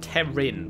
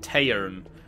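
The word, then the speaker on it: Teyrn: I was saying Terin, but it's more like Tairn.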